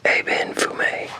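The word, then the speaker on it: Ébène Fumé: I'm gonna look up and see how that's pronounced. Okay, it's Eben Fumé. So Tom Ford, Eben Fumé. Okay. Tom Ford, Eben Fumé.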